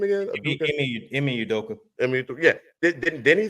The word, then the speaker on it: Ime Udoka: Now, Udoka, how you pronounce his name again? Ime Udoka.